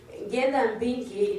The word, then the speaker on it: Ngethambingi: Ngetambingi is spelled E-N-G-E. N-G-E-T-H-R. Ngethambingi, it's a Kamba word meaning more harvest.